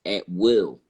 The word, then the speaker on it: Atwell: So when I looked up, Atwell, I came to the, a saying it's actually pronounced at will.